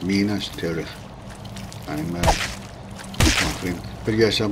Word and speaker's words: Minas Tirith: Minus Tirith, or Minus Tirith, depends on where you are, where you want to pronounce that. But it used to be Minus Tirith, that's lads. And yet in the Tolkien films it's Minas Tirith.